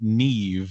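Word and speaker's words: Niamh: Now I I I do happen to know that I've seen the name Neve spelled N I am a Mh.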